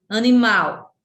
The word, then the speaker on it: animal: Animal, mal, animal. A gente pronuncia, né? Mal é a sílaba tônica e as outras são átonas.